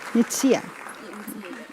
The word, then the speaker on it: Nsia: My last name is pronounced Nsia. Nitsia.